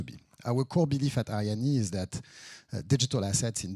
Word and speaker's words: Arianee: I'm the CEO and co-founder of a project called Arianee, A-R-I-A-N-E-E. So it's pronounced Arianee, not Ariane or whatever.